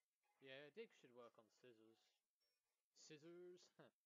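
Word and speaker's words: Scizor: Yeah, Dig should work on scissors. Scissors? Caesar. No, it's called Caesar, I think. That's the actual pronunciation for it.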